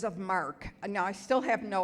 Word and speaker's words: marque: And I would sort of say, letters of marque. Now, I still have no idea what letters of marque are. But I have to say, Mark is spelled M-A-R-Q-U-E.